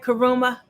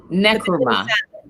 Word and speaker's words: Nkrumah: Nkrumah? Nkrumah.